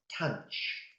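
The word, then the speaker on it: tanh: And the last one, I pronounce it as tanch.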